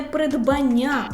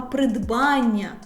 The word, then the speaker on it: придбання: Притули а щодо наголосу не придбання а придбання наголошений суфікс Ан і два тести на